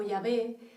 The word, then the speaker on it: Yahvé: YHWH, que lo pronunciamos nosotros como Yahvé, aunque realmente este nombre